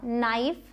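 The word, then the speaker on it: knife: अब एक चीज है साइलेंट के। कई बार आप पाएंगे कि के साइलेंट होता है। और स्पेशली अगर के बाद एन आया है और मतलब कि वर्ड के शुरुआत में अगर के बाद एन है तो आप के को नहीं बोलेंगे। यह साइलेंट होगा। नाइफ no night. के का कोई साउंड नहीं आया।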